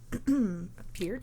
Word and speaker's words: Peart: Did you know it's pronounced Peart?